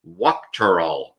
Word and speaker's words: Wuchterl: And I'm here today with my good friend, Kyle Wuchterl.